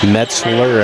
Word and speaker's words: Metzler: As Metzger misses the first. Metzler, I beg your pardon, been mispronouncing it.